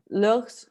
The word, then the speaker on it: leurs: Mais, au niveau prononciation, ça c'est leur et leur. Le S ne se dit pas, mais il s'écrit.